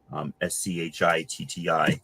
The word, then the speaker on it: Valerio Schiti: I don't know how else to pronounce his name without saying shitty. Schitti. It's Italian.